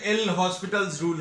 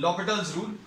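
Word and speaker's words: L'Hôpital's rule: इसकी स्पेलिंग जो है एल हॉस्पिटल्स रूल है ना. This is pronounced as लॉपिटल्स रूल और ये एप्लीकेबल किसके लिए है?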